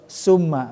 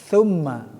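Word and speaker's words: ثُمَّ: apa diperhatikan kembali ya ya Tum Bukan suum beda kan walaupun tidak bisa tidak melihat kita ke pelafalan Ya tapi kalau Summa beda kan Summa tumma beda walaupun kedengar waupun enggak melihat Ya itu tumma kan terus ada satu orang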